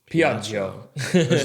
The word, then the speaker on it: Piaggio: Here's how you pronounce the Piaggio. Piaggio.